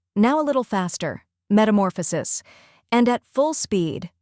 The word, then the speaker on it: metamorphosis: the TA in sofa then comes more which is stressed and rhymes with or after that we have